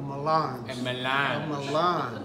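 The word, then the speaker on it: mélange: so they were garnished a melange a melange you have to say it like that yes if you can say it through your nose you're better better off but I don't know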